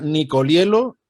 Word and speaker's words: Nicoliello: Y hoy estamos con la profesora e historiadora uruguaya Nicolielo. He pronunciado bien tu apellido, ¿verdad?